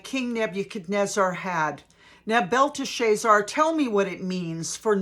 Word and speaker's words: Belteshazzar: Then Daniel, also called Belteshazzar, was greatly, it's actually Belteshazzar, but I'm just enjoying pronouncing it Belteshazzar.